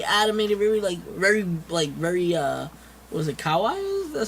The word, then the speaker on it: kawaii: I'm very excited, very animated, very what was it, kawaii? That's how you pronounce it.